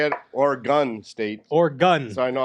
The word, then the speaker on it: Oregon: Oregon. I said, so now I know how to say it. Oregon State.